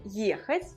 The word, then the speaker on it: ехать: À votre avis, où est la place de l'accent tonique? Ехать, ехать. Sur la première, voyez le е. Ехать. L'accent tonique est ici.